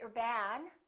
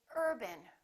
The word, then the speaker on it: urban: example the word urban we don't say urban we say urban repeat after me urban we stress this part and we reduce this part if you say urban once again it sounds like a completely different word it's very important to